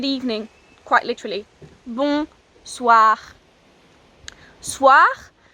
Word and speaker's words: soir: quite literally boom SWA SWA is written s o I are bit spun up pronounced soo ah soo ah so that sound all